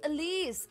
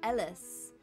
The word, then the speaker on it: Elise: in welcome on in your name is pronounced elise ah what was i saying ellis elise thank you i i'm not very